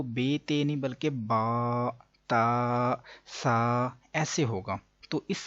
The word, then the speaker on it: ت: تلفظ سے پرہیز کریں یعنی کہ بے، تے، سے، ہے، خے، توئے، زوئے وغیرہ ہرگز نہ پڑھیں بلکہ با، تا، سا، حا، خو، تو، ظو پڑھیں.